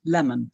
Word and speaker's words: Lemon: that also indicates that his name was pronounced lemon as in the fruit because that is